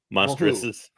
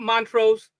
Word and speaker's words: monstrous: Monstrouses. It's monstrous. Not mantros. Not monstrous. You said it like five different ways.